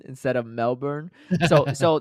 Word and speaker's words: Melbourne: you guys keep saying Melbourne instead of Melbourne so so that's how they pronounce it in Australia right because uh like